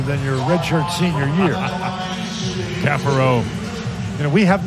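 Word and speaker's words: Caffaro: So you got Caparo, and it used to be Cafaro. Francisco has, the pronunciation has been updated, if you will.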